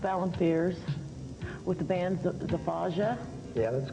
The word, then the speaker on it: Zafaja: like to introduce Joseph Allen Fears with the band Zafaja. Yeah, that's correct. Okay. That's how it's pronounced.